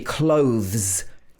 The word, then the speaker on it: clothes: Another example could be clothes. Very difficult one to pronounce. K-l-o-th-s. Clothes. We have clothes you can borrow.